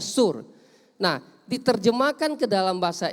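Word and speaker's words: סור: Dari bahasa aslinya itu sur atau soor, tulisannya soor, bacanya sur.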